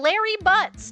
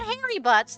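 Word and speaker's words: Larry Butz: The clock itself, made by our very own Larry Butts. Not Harry Butts, though that is a common mispronunciation that we used to torture him with in elementary school.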